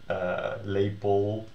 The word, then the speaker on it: lepel: that ERD, ELD, whatever, endings are all unemphasized. So you can hear that if you pronounce them sort of, or you hear me pronounce it, kussen, lepel, keuken, wekker. So they all sound like e, and this sounds like e, bed.